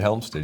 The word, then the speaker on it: Hjelmstad: Did I pronounce that right? You did, Hjelmstad.